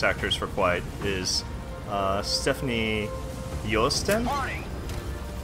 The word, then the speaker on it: Joosten: capture and voice actors for quite is Stephanie Yost my it's spelled if you read it like phonetically in from English standards it looks like a Stephanie Joosten like J oh oh but I watch the